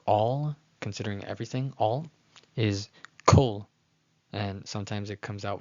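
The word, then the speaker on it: כל: considering everything, all, is kol, and sometimes it comes out with the kamatz katan. Don't make the mistake of saying kal, thinking it's a kamatz gadol, but rather it's kol.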